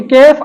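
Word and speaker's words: قاف: इस तरह भी अदा नहीं करना कि कैफ अदा हो या फिर कैफ अदा हो। तो इसकी असल प्रोनाउंसिएशन है काफ, काफ।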